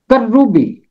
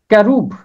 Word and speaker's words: کروبی: بھی استعمال ہوتا ہے۔ عبرانی زبان میں اس کا تلفظ ہے کیروب، کیروب، اور اس کا جمع ہے